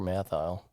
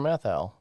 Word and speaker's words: Matthau: with walter mathile yeah i don't think you know how to say his name right walter matthau okay you got it that's the first time i say i don't it kind of sounded like you put an l in there no it kind of